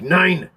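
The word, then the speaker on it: Nein: The names of these songs are Hi Guy, 19, and 9 is spelled N-E-I-N, like 9.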